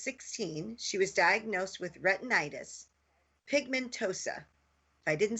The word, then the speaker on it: retinitis pigmentosa: When Nancy was 16, she was diagnosed with retinitis, pigmentosa. If I didn't say that right, she can pronounce it correctly, and experienced progressive vision loss.